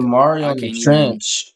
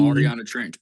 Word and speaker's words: Mariana Trench: So it don't say the Mario trench or whatever how you say it. But I do see the Mariana Trench bro.